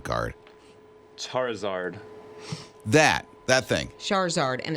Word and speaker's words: Charizard: card oh my gosh how you say it char e zard charizard it's like these tick